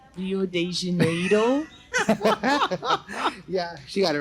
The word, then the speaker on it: Rio de Janeiro: It's actually pronounced Rio de Janeiro.